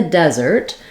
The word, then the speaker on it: desert: need these words so in the desert we have uh first syllable stress notice all of these words have the letter s or the letter is SS saying the z sound this is kind of an exception usually SS will say s like in glass